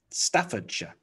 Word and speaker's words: Staffordshire: Staffordshire.